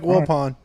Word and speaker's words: Wilpon: sure it's willpower mike wilpon yep okay mitch pretty sure pal how was the match how do you spell it well pawn that's french as in like the chess piece same way it sounds because he's not a